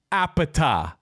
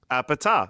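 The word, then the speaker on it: APT.: Apparently you pronounce it appeta like they do in the song. Oh, appeta.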